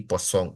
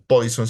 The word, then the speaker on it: Poisson: mismo, la distribución binomial, hipergeométrica y Poisson, o Poisson si lo pronunciamos utilizando el lenguaje español y de acuerdo a las últimas reglas que nos ha dado.